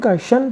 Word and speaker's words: caution: तो इससे पहले भी हमने TION का उच्चारण शन बताया था। तो CAU, इसका उच्चारण हो जाएगा कॉ, और TION का शन, तो क्या हो जाएगा? कॉशन, जिसका मतलब चेतावनी या सावधानी होती है।